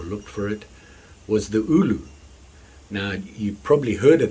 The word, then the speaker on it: ulu: I pronounce it ulu.